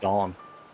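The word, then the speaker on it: dán: The Irish is just What? dawn. What? The Irish for poem is dawn.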